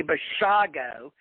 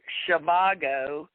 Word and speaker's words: Bashago: do, Andy, folks, Andy Bashago. I know, Andy told me himself, it's like Dr. Shivago. All you people out there that are mispronouncing it, Andy is Andrew Shivago, but it's Andrew Bashago, okay?